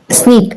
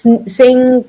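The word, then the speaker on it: Snyk: Sneak. Yeah, you actually pronounced it right because people say it's Sink or Sinak or something.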